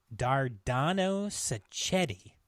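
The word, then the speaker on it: Dardano Sacchetti: shot in Italy the script was Rewritten by dardano saetti yeah you said it right congratulations yes that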